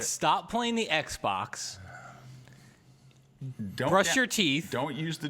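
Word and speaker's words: Bruges: we're pronouncing that right Bru yeah we say is it with the S or without the S I never um in French it's Bru and in Dutch it's Brer Bru it is so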